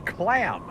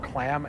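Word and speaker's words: Kläm: It's clam. It's another product. It's another product from the games I read. So it's spelled KLAM.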